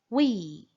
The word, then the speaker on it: we: O W tem som de U. É importante fazer essa pronúncia corretamente, ok? Então repitam comigo. We.